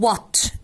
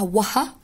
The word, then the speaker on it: what: هنا بقولها what، التيتشرز الجداد اللي بيقولها وها دي كده غلط، ال H هنا silent.